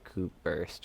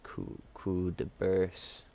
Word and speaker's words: Coup de Burst: Some guys say Coup Burst for Frankie, but it's called Coup de Burst.